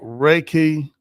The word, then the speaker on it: Reiki: And it's called Reiki for all. Did I pronounce that right?